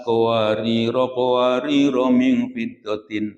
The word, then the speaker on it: قواريرا: من فضة قدروها تقديرا khusus pada lafadz qawariro itu kan ada alifnya Pak ya. Membacanya kalau dilangsungkan pendek. Umpamanya kalau kanat qawariro min fiddatin itu. Kalau diteruskan diwasolkan. Tapi kalau berhenti kanat qawariro diteruskan lagi, yang keduanya pendek.